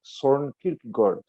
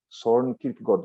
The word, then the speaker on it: Søren Kierkegaard: Em dinamarquês, a pronúncia é Søren Kierkegaard. Søren Kierkegaard. Mas aqui no Brasil a gente fala Søren Kierkegaard, porque é mais fácil e é assim que a gente fala.